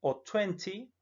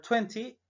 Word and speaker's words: twenty: ser las decenas es decir chen fue en tuenti es muy común que estate no la pronunciamos entonces sueño the line e saltamos al y suena también se puede pronunciar twenty pero cuando late es muy pronunciada es muy